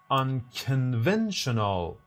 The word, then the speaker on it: unconventional: B unconventional can you find the stress which syllable is distressed and the answer reveals in three 2 1 it is unconventional both in American and British unconventional unconventional and